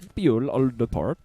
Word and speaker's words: Bjuul Ulderport: Bjuul Ulderport. Might be a name from the Netherlands. It's Bjuul. The J is a softer J. It's Bjuul Ulderport.